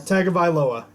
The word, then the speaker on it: Tagovailoa: Tagovailoa.